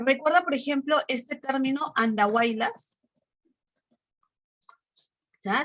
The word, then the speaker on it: Andahuaylas: Ahora, recuerda, por ejemplo, este término andahuaylas. ¿Ya? Se escribe con Y al centro, pero tiene sonido I, ¿no?